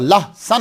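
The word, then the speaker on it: लहसुन: दोनों का असल प्रोनाउंसिएशन जो है वो पेयाज और लहसन है, लेकिन गलत नहीं है, आपने जो अडॉप्ट कर लिया और अगला समझता वो ठीक है बिल्कुल।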